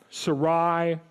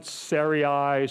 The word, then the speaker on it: Sarai: I now look Syria Sarai there's about 15 different ways to pronounce this name her name is going